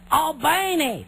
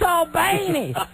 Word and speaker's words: Albany: And everyone's Albany. It's Albany.